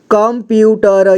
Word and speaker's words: कंप्यूटर: अगला है संगठन संगठन कंप्यूटर यहां देखिए क है कम अंक की मात्रा कम इसके बाद देखिए आधा प है ठीक है आधा प इसमें लगा हुआ है इसके बाद यू कंप्यूटर कंप्यूटर और यहां पर कंडक्टर